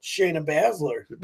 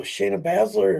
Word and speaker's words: Shayna Baszler: Shayna Baszler.